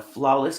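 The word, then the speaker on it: Sphlawless: one i want to say is uh a flawless company it's uh pronounced it's a s p-h-l-a-w-l-e-s-s and uh she's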